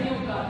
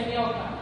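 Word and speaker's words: ñuqa: que significa yo eh si lo leemos como en español viene a pronunciarse uca pero en que hecho se pronuncia ñoca viene ser y eh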